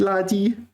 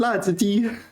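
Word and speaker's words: 辣子鸡: He likes 辣子鸡, but I mispronounced 辣子鸡 and I said 辣鸡, and he was kind of not so impressed with that.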